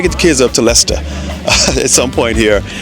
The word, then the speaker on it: Leicester: the kids up to Leicester at some point here. That's how the locals say it. There's more of a ta at the end.